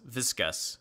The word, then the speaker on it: viscous: it's pronounced vit visc us viscous okay and then weighed